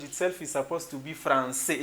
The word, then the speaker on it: français: You should not pronounce it francais, you have to pronounce it français, and it is written like that.